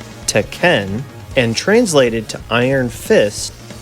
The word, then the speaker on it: Tekken: since December of 1994 Tekken pronounced correctly as teen and translated to Iron